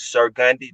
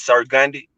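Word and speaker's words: Sir Gandhi: on all streaming platforms sir gundy that's my name sir like yes sir s-i-r and that's gandhi like gandhi how you say his name g-a-n-d-h-i not g-h-b-g-a-n-d-h-i that's sir gundy you know i'm saying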